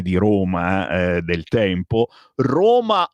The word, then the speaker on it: Rome: Roma o rom, rome, scritto rome, ma si pronuncia rom.